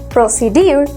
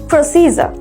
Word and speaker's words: procedure: এটার প্রনাউন্সিয়েশনটা আমরা কমনলি ভুল করে থাকি। এটার প্রনাউন্সিয়েশন হলো প্রসিজার। এটাকে আমরা বলে থাকি প্রসিডিউর। Instead of this common pronunciation procedure, we need to pronounce procedure.